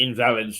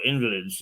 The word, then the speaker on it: Invalids: who play what are known as either the Invalids or Invalids, whichever way you want to pronounce it.